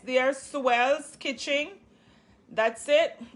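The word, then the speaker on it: Suell: you guys to do so that's how it spell it's so it's they're supposed to be an s there swells kitchen that's it it's s-u-e-l-l please go over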